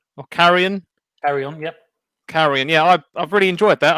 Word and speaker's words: Carrion: playing a little indie title called i'll probably pronounce this wrong it's either carrion or carrion carry on yep carrion yeah i've really enjoyed that i've actually just